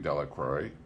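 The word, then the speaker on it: Delacroix: Henry Jones and Dickie de la Crowe the villagers pronounced his name deliquary eventually made a great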